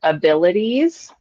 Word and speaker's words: abilities: Pronunciation of the word abilities. Abilities. We want to give that IES sound at the very end a longer E sound.